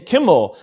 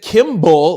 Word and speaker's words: Kimmel: Oh my gosh, there's no B in Kimmel. You said Kimball the whole time, which is another person's name altogether.